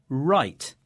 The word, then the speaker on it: write: In fact, there's a rule here, which is we don't usually pronounce the W in words that begin W-R.